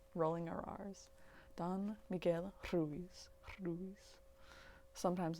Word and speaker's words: Ruiz: don miguel ruiz ruiz if you guys want to roll your r's you got to breathe out when you do it and you kind of like put the tongue to the roof of your mouth behind your teeth and you just kind